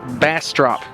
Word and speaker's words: Bastrop: Like, I just want to say Bastrop, okay? But it is, I don't know if I'm holding the mic. I want to say Bastrop, but it is Bastrop, kind of like bass, the fish, and drop, but with a T.